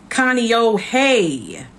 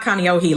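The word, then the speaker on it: Kāneʻohe: And by the way, it's pronounced Kaneohe. Kaneohe. Kaneohe. Hey. It's not Kaneohe like I said in my other video, child.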